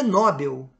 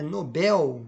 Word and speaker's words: Nobel: bom é letra D não é nóbel é Nobel está corretamente destacada tá bom não é Condor